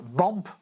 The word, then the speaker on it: BAMP: Vous êtes membre du collectif BAMP. Je l'ai bien prononcé?